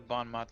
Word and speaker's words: bon mot: Let's try to bon mot this guy. Mm-hmm. One of these I days know. I'll pronounce it correctly too.